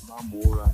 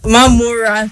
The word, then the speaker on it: Mamora: Our guest is none other than Senator Adeleke Mamora. Welcome, Honorable Minister. Thank you very much. The name is Mamora. Mamora, thank you.